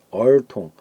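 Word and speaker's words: 儿童: 얼통, 아동이 있었죠. 얼통인가요? 한자가 대충 그런지 모르겠는데 발음은 이렇게 되죠. 얼통. 제가 좁은 데서 써서 얼통. 그래서 이건 단독 개체이기 때문에 제성주, 제2성으로 발음을 합니다.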